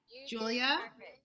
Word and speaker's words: Jewlya: And please let me know if I pronounced it correctly. Jewlya?